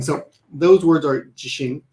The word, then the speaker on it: 自身: So number 2 and 3 are pronounced exactly the same, but when you pronounce number 1, jishin, there's a slight, I guess you want to stress the first kanji a little bit more.